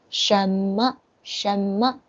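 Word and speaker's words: 什么: okay let's continue so what in chinese is shama okay the second i think i can put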